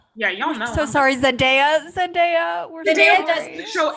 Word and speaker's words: Zendaya: I just got told it's Zendaya, not Zendaya. I also thought it was Zendaya. I thought it was Zendaya too. It's Zendaya.